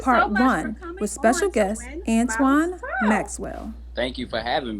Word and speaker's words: Antwon: correct me you know if i say a name wrong got you okay so um antoine maxwell is a visionary husband i said it